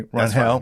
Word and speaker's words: Rangel: I have Joe Rangel. Am I saying it right? You say it faster than me. Rangel.